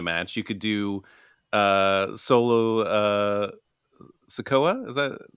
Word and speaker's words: Sikoa: You could do Solo Sikoa.